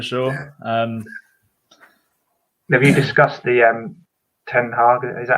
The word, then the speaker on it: ten Hag: Have you discussed the Ten Hag. Is that how you say it? Den Hag. So just imagine you're about to cough up a big greenie. Yeah, give it one of those.